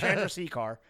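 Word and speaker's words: Chandrasekhar: SEC car I went I made sure I got the pronunciation right Chandra c car okay and it's Stars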